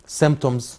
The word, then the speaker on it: symptoms: symptoms البي سايلنت طبعا ما بننطقهاش symptoms يعني اعراض المرض.